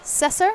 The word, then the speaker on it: Cesar: All right, before we get into our next match, I have Cesar. Is that how you say it? Caesar. Caesar. Everyone's saying that. And I was like, I feel like it's just Caesar.